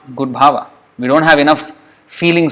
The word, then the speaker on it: bhava: doing that is bhava so bhava if I can pronounce well if I don't if I'm careless about it and I don't care that is not good Baba o maharaja no Krishna